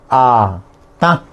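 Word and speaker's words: hatã: Duro se dice ata. La última A es ata.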